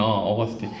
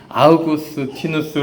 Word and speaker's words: 아우구스티누스: 어 틴도 같이 살았거든요 어거스틴 아우구스티누스 부르죠 그죠 지금은 요즘에는 다 원 원어 발음대로 가져와요 어거스틴은 다른 어떻게 해서 그런 발음이 생겼는지 모르겠는데 아우구스틴 성 아우구스티누스 그죠 그래서 우리는 이렇게 알고